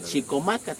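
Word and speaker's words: Chicomácatl: Por eso le llamaban así el cacique gordo, que bueno, se pronuncia Chicomácat, quiere decir el cacique gordo.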